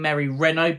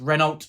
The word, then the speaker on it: Renault: heaven by Mary Reynold I have been saying Mary Renault but someone comment saying it's pronounced rynal so thank you for correcting my pronunciation there